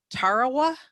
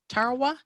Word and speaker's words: Tarawa: called uh maybe can help me with this pronunciation at tarawa tarawa yes that's the name of the battle in